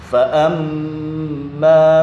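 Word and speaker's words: فأما: Fa'amma, mimnya bertasydid. Ini dibaca dengung, ditekan dan dibaca dengung. Fa'amma man, gitu. Tapi terkadang anak-anak membacanya tidak ditekan juga tidak ada dengung.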